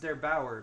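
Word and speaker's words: der8auer: Actually, if you guys want a cool video on that, Steve linked one yesterday by, I believe his name is pronounced Der Bauer, but I hope I'm not wrong about that.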